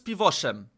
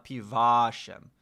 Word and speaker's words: piwoszem: Polish people tend to Jesteś piwoszem. Tak, jestem piwoszem. have a very curious nature when it comes to their zoological encounters and Wait, is it piwoszem? Piwoszem, not piwaszem. Piwoszem.